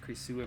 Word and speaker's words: Krasue: the Crayu or Couer. I I think actually it's pronounced Couer, but I could be very wrong on that.